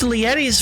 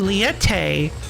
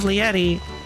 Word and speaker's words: Lietti: They changed Lietti's voice for some reason and had her pronounce her name Liette instead, very clearly Liette instead of Lietti.